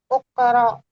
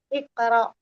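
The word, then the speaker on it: اقرأ: Uqra udars. Bukan bukan u iqra. Ah iqra. Baik. Dia normalnya sukun ya. Iqra sukun.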